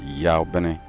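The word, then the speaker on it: Yabin: The transliteration, which is Y-A-B-I-Y-N. Now, then you get the pronunciation, which is Yawuah.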